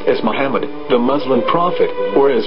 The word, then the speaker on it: Muhammad: According to Ben Yehuda's Hebrew-English dictionary, it is correctly pronounced as Muhammad, not Mamad. So how we're going to know for sure if it's pronounced as Muhammad, the Muslim prophet, or as Mamad, a random Hebrew word?